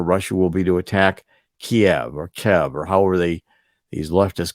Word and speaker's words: Kyiv: I always learned it was Kiev when I was taking international politics courses back in school. We hear it all the time. Recently, you heard Joe Biden pronounce it Kyiv on a regular basis.